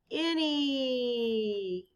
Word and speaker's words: any: it ends with Y this word rhymes with Penny the word is any correct and of course